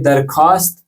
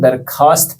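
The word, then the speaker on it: درخواست: लिखने के कुछ कवायद ये लिखे तो वाव के साथ वाव मादु है यहां यानी कि जिसे हमें साइलेंट रखना पड़ता है तो दरख्वास्त नहीं पढ़ेंगे इसे हम दरखास्त पढ़ेंगे ये चीज जन में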